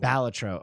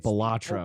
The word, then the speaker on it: Balatro: Balatro. Okay, sorry. That's how you say it. Now, if you don't know what Balatro is, I'll let Northern Lion explain it. I've been calling it Balatro.